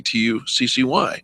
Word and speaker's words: Tussey: Search Tussey, Tuccy. Rhymes with fussy.